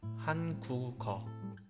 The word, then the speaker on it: 한국어: The same applies to 한국어, where 국 with the final consonant 기억 links to pronounced as 한국어. Of course, when writing, you have to maintain the original form, like 한국어.